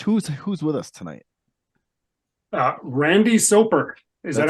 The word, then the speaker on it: Soper: Randy Soper.